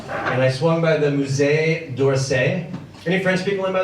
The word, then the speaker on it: Musée d'Orsay: I swung by the Musée d'Orsay. Any French people in, by the way? Yeah. Did I pronounce that correctly? Yes. Close enough, right? Yeah. For an American.